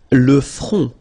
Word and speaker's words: front: Le front. Final T not pronounced.